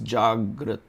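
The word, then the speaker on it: जाग्रत: Awake means Jagrat.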